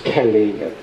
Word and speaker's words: Kellie: Do you pronounce Kelly just as Kelly, like other Kelly? You don't somehow emphasize the fact it's spelled differently? No.